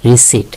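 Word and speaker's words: receipt: আমরা রিসিভ বলি না। রিসিভ। এখানে পি হচ্ছে সাইলেন্ট লেটার।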